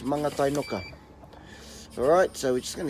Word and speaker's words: Mangatainoka: It's called, this place is called Mangatainoka. Mangatainoka, alright? It's not Mangatainoka, as they keep saying on those ads. Brewed in Mangatainoka. Yeah, it's Mangatainoka.